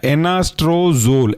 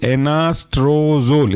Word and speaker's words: एनास्ट्रोजोल: दूसरा एग्जांपल है एनास्ट्रोजोल, एनास्ट्रोजोल, स्पेलिंग है NANASTRO और जोल ZOLE, एनास्ट्रोजोल।